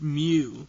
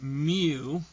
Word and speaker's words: mu: lowercase m in the greek alphabet and it's pronounced mu that's the actual name okay to me it looks like a cursive u but it's mu and the formula for the population mean would